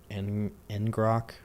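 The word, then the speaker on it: ngrok: that's what but that's because I'm going through eningrock that's how you pronounce it locally.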